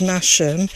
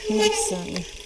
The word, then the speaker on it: Masham: We used to argue as to whether Masham is pronounced Masham, as it's spelt, or Masham, but I think it's Masham.